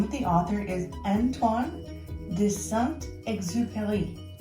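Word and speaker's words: Antoine de Saint-Exupéry: It's a wonderful story, and the name of the author is Antoine de Saint Exupery, and that's sort of how you say it with the French accent.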